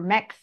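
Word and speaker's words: Mx: say it different ways they'll say it mix or Mech uh it kind of swallow that vowel and make it mix and you're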